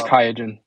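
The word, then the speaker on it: Qiagen: you know let's say Qui Jen or Q Jen however you say their their stupid name oh I don't know how they pron I don't know how to say it either but it's kayen okay if Kay Ken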